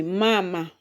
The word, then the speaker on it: mama: So if you count from the end and it has two syllables. So of course the stress is going to land on the first one there. So it will be mama.